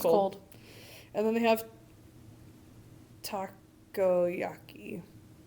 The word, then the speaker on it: takoyaki: And then they have takoyaki. Taiyaki? No, there's another syllable in the middle.